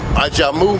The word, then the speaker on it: Ajamu: Ajamu. Can you spell that?